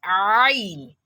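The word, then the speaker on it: ع: So we have ain. People do mistake these for amza, which is pronounced as a. Here we have ain, ain, ain, ain, not a, not a, not a, but ain, ain, ain.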